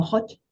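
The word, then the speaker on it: Hannah Höch: Se escribe un poco raro, Hannah, H-O-C-H, Hodge, como Hodge, Ah, con diéresis en la O.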